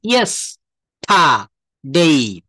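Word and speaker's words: yesterday: ইয়েস্টার, দেখেন ইয়েস্টারডেই, এখানে রটা কিন্তু এই যে আর, আর সাউন্ডটা বাংলা উচ্চারণের সময় আসবে না। কি করতে হবে? এটা কিন্তু উচ্চারণ করা যাবে না। এটাকে আমরা কি বলবো? এটাকে বলতে হবে ইয়েস্টা, জাস্ট ওয়েট। হ্যাঁ, বলছে ইয়েস্টারডেই। দেখেন ভালো করে খেয়াল করেন, ইয়েস টা ডেই।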